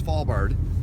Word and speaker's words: Svalbard: let alone took me almost a year to pronounce it, and it's Svalbard.